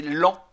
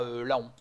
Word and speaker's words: Laon: avant c'était dans la Picardie la préfecture c'est lent là aussi on dit LAN on ne dit pas Laon de la même manière qu'on dit un pan